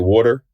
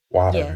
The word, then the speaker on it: water: there words like like water you know what I mean like I say water but most people say water water you know I say I say w o d e r r water you know what I